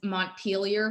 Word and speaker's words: Montpelier: and properly pronounce them which is not the way that the french would have pronounced them but anyhow it's just